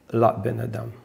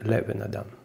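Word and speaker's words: לבן אדם: Первый раз под ламит стоит шва «Ле бен адам». А второй раз «Патах» «Ла бен адам». Правильно говорить «Ле бен адам». «Шиу яцур лошони вульгари» «Ле бен адам». То есть он говорит, что говорить «Ла бен адам» – это произношение вульгарное.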